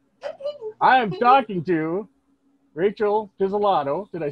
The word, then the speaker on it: Pizzolato: hit 20 yet i am talking to rachel pizzellato did i say your name right yes you